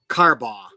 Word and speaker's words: Carbaugh: how do you say your last name correctly carbaugh carbaugh okay thank you all right so he h